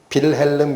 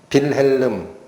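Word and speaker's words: Wilhelm: 여기 빌름 이세가 그 당시 독일의 통치자인데 어이 제 지금 맞는지 모르겠어요. 독일어 발음으로론은 빌름인데 이게 영국식 발음으로 윌리엄일 거야 아마.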